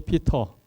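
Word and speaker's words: Peter: 헤이 피터. 피터가 이 베드로 이름입니다. 러시아 사람들은 뭐라고 발음할까요?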